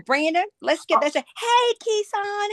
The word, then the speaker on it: Keicon: Is it pronounced Kaikon or am I wrong in that? You are wrong in that. It's pronounced. Yes. Kissan.